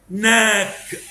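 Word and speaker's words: knock: حرف الكي لتر كي لو جه بعده ان يبقى الكي سايلنت اهو. نو، نيف، نايف، ناك، ني، نابساك، نت، نوت. كل الكي سايلنت عشان بعدها ان.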